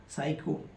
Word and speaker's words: psycho: Next example है PSYCHO साइको या साइकोलॉजी। Same PSYCHO, इसे पढ़ेंगे साइको, साइको से बना साइकोलॉजी।